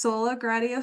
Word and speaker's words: Sola Gratia: So it's pronounced Sola Gratia Farm.